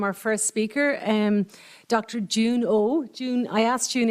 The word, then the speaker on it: Jieun: first speaker um Dr June oh June I asked June earlier how do you pronounce her name and she said June July it's easy so um so there